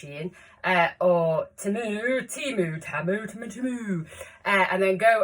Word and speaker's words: Shein: I don't go to the likes of Shein, it is pronounced Shein, or Temu, and then go and buy a load of clothes and then do a haul.